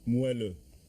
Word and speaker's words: moelleux: Can you pronounce that, Monsieur Grouilly? Moelleux.